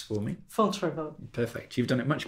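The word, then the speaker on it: Fontevraud: But if there's one heart to it all in these later years, it's this place Which you'll pronounce for me. Fontrevaux.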